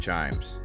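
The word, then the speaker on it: CHIJMES: وهذا هنا هو Chimes يبدو أنه يجب أن يقال تشا جيمز ولكنها مجرد Chimes وهنا منطقة تسوق بها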